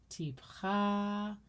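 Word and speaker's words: טִפְחָא: As I mentioned before, 90% of Hebrew has the accent on the end of the word. And all of these trope names are as such.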